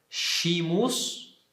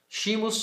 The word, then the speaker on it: scimus: Eu pronunciei as duas consoantes, scimus, né? Que dá no latim eclesiástico, na pronúncia eclesiástica, esse som de SC, scimus, né? Scimus e aqui scimus.